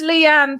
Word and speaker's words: Leighanne: of throw you because it's got the feminine lee in it but it's just leanne it's quite i don't